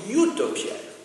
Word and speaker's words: Utopia: parce que en fait en anglais Utopia ça se prononce Utopia you hein ça va donc le U et le E u se prononce de la même manière en anglais donc c'est OPI et